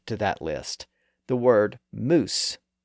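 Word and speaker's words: mousse: another interesting word to that list the word moose m o u s again it's a French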